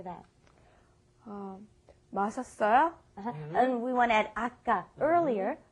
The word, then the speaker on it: 마셨어요: But then when you mash it together and pronounce it like a normal Korean person, you say 마셨어요.